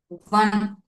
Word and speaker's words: one: One.